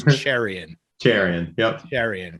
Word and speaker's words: Cherian: So and I ask because I'm always so paranoid of name pronunciations. It's Cherian. Cherian. Yep. Cherian, correct.